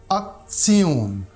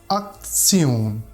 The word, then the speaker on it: Aktion: T-I-O-N, T-I-O-N. This combination mostly appears at the end of German word and pronounced like Zion, Zion, as in Aktion, Funktion, Aktion, Funktion, Gede.